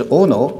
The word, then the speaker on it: Ohno: First of all, my name is Ohno. It's spelled out O-H-N-O. Sounds like Ohno, a very negative name, but I'll never say Ohno to this wonderful meeting of Aspen.